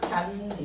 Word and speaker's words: 잔디: 이렇게 하나의 형태소 안에서는 디귿과이가 만나도 국의 음마가 일어나지 않아. 여기서는 무게음만 일어나지 않아. 그래서 그대로 그냥 잔디 이렇게 발음되 됩니다.